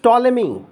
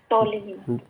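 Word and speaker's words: Ptolemy: पी तो silent होगा सर इसमें। बिल्कुल सर सही जा रहा है। सो ही होगा sir. This is टॉलमी। टॉलमी। टॉलमी।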